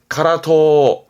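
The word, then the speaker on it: 辛党: 그래서 발음은 카라토, 카라토입니다.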